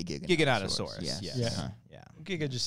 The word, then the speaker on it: Giganotosaurus: I saw one comment about the pronunciation. No, he was agreeing. I know, but in the past, they called it Gigantosaurus.